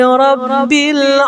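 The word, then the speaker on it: رَبِّ: Alhamdulillahi rabbil alamin. Rabbil tasydid, maka ditahan. Rabbil, ro langsung ke baknya ditahan sedikit. Rab 2 harokat ya.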